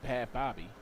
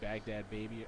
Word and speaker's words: Baghdad Baby: I've been pronouncing it Bad Bobby. Like Baghdad. Like Baghdad baby.